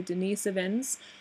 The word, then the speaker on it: Denisovans: few more things the Denisovans or I should I guess I should properly pronounce it as the Denise Evans not very much is